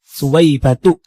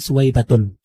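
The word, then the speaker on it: سويبة: Yang pertama, kata Suwaibah dalam bahasa Arab itu merupakan isim giru munsarif, Ustaz. Karena Suwaibah memiliki dua illah, yaitu alamiah dan juga taknis. Jadi bacanya tidak ditanwin, Ustaz. Suwaibatu bukan suwaibatun.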